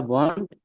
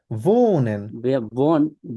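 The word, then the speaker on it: wohnen: বিয়া বিয়া বন্ড in Dhaka. বিয়া, আবার বলেন। বিয়া বন্ড ইন হুম, ঢাকা। হয়নি, আবার। ভিয়া ভোনেন।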